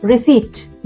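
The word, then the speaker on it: receipt: Same with रिसीप्ट। Yes. There is a silent P hiding in the middle of the world.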